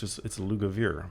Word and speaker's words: Lugavere: It's actually pronounced phonetically, like it's E-R-E. It's Lugavere.